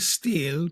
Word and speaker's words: stele: Okay, and he had a stele erected, and it's called a stele, but it's spelled Stele, and it's basically a stone or a wooden slab, generally Yes.